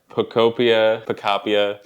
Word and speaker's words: Pokopia: Utopia, but Pokemon. Pokopia. So it's Pokopia. It sounds like I'm barking like a chicken. Pokopia.